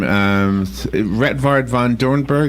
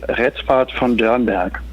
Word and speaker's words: Rettward von Doernberg: Well, it sounds great. You know, I spent some time in the United States, so everyone, you know, pronounce it like that, so that's totally fine. Oh, okay. The actual German pronunciation would be Rettward von Doernberg. But that's actually quite difficult for some Germans too.